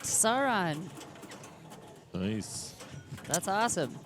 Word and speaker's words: Sauron: All right, Sauron. Nice. That's awesome.